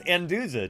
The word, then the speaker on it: Anduza: and Valence I like how our TTS can't pronounce my last name it's anduza TTS anduza hahaha bullet you make me blush